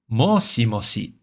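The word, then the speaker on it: もしもし: But, it's worth noting that because it's regularly used as a question, similar to hello in English when talking on the phone. In Japanese uh questions are often marked with a slight rise in intonation at the very end. So, it's worth noting that you'll regularly hear moshi moshi said as like moshi moshi e with that e on the end to sort of uh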